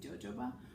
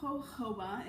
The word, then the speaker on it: jojoba: I also use Jojoba Oil, which it's spelled with a J. So in my brain, I always think Jojoba, but Jojoba is how you say it.